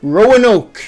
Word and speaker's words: Roanoke: Roanoke. Okay. That's how it's pronounced.